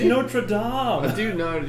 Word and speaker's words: Notre Dame: It's Notre Dame. Dude, no, dude, it's Notre I think Dame. the school's actually pronounced Notre Dame sounds Dame, like but- some like idiot Fighting Irish.